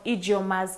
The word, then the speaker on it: Ijeoma: Remember guys, you're watching What's In Your Kitchen and today we have Eunice from Ijeoma's Kitchen. Yeah, please. Am I pronouncing that right?